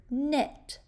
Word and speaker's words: knit: What's the first sound you hear in the word knit? N, silent K, N.